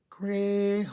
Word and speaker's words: Crayola: They're from Crayola. That's how you say it. You have to put the la in there. Crayola.